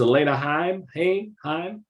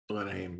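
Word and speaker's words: Alana Haim: The fact that you cast this actress, I think her name is Elena Heim. Elena Haim, yeah.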